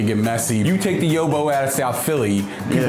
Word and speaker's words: Yo-Bo: So we called it the Yobo. It usually starts off with people trying to pronounce it. I used to get a lot of yabos when we first started taking phone calls.